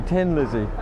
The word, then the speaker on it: Thin Lizzy: Because everybody in Dublin would say Tin Lizzy because nobody can pronounce the th like me for instance.